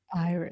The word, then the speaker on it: Iris: The traditional pronunciation is Iris, but I think it's universally accepted to call her Iris.